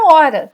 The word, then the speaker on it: hora: A letra H pode não representar fonema, como na palavra hora, que todo mundo conhece. Olha como que é a representação fonética. Ela some, não aparece porque a gente não pronuncia, tá?